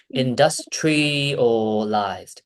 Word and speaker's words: industrialized: Now, you say tri-al. Industrial. Tri-al. It's the tri- It's a tri- not It's tri-al. It's more like it has to go down a slope, not like this.